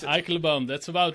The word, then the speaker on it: Eikelenboom: Gilbert Eikelenboom, is that how you pronounce it? Eikelenboom, that's about right.